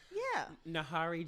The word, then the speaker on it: Njeri: What's I'm your at Nahari JC, but it's spelled NJERI JC.